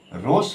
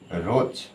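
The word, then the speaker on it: rose: তাহলে এইজন্য এখানে রোস হবে না। এখানে হয়ে যাচ্ছে কি? রোজ।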